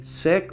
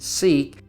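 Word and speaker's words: Siq: five we come to the sick or pronounced seek this is a long road about 1 mile or 1 .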